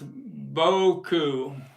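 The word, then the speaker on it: Beaucoups: I was tell Bo Boku is how to pronounce Boku gotcha thanks Greg B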